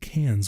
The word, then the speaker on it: Cairns: It's spelled with an R, but the Australians don't say their R's, so they say it Cairns. We would say Cairns.